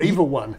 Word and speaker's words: EVA-1: Is it pronounced EVA-1 or EVA-1?